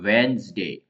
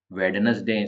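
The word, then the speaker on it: Wednesday: इसको कर ले तो वेनसडे तो डी साइलेंट है वेनसडे वेडनेसडे सेे नहीं बोलते हैं कभी-कभी कहीं सुनने में आ जाता है बट रियल में वेनसडे ही तो फ्रेंड्स यह थे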